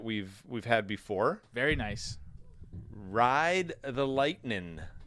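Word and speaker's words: Rye'd: Ride the Lightning. A ride is spelled R-Y-E apostrophe D, like rye.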